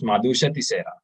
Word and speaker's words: Madusha: pronounce your name uh it's pronounced as madusa okay okay and you